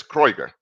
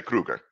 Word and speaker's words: Krueger: Krueger is pronounced in German as Kreuger.